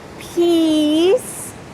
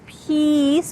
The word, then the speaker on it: piece: So let's practice saying peace with a long E together.